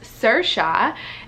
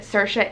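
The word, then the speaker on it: Saoirse: we also know that Sercha is an Irish name, and the way it's spelled, it's just out of this world confusing. Like, I don't think anybody would actually really get it in America, but I thought, like, why can't we just spell it phonetically? Why can't we just spell Sercha, S-E-R-C-H-A, Sercha, like, or S-E-R-S-H-A, Sercha.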